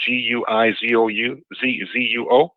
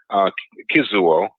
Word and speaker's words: Guizuo: posture called the Guizuo, spelled Guizuo, Guizuo, or they also pronounce it Kizuo, Quizuo.